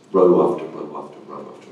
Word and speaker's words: ROE: evaluating, which gives us the acronym ROE, and if you pronounce it row, you can get back